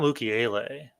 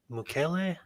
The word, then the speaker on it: Mukiele: It's not Mukiele. Mukele.